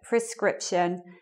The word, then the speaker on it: prescription: But anyway, the stress is meant to be on the second syllable in those words. So it should be like prescription and prerogative.